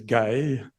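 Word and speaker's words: γῆ: that Greek word there the pronunciation of the coin is gay although they don't pronounce it like that in modern Greek but it actually is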